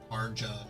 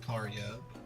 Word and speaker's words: Karja: They pronounce J sometimes and then not other times. Karja, not Karya, or the Norgans, flagship of the Balta Sea Force.